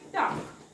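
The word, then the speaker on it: talk: वॉक वाचायचे वॉक एल वाचायचा नाही नेक्स्ट आहे टॉक टॉप हा कसा वाचाल तुम्ही टॉ क यामधला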